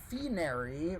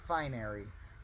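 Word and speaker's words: phinary: want to call it finery but the Greek letter is pronounced Phi Phi so base fee or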